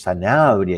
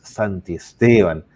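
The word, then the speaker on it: Santisteban: familia de Don Víctor porque dichos Sanabria y me he equivocado tres veces es Santi Esteban Así que las familias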